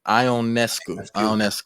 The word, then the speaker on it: Ionescu: Ionescu.